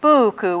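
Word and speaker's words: puuku: one more example is buku with a long you in the first syllable and a short you in the second that means horse one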